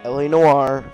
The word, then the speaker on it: L.A. Noire: To start off this review, I'd like to stop and say to everyone who is still improperly pronouncing the title LA Noire, that it's LA Noire and get it right.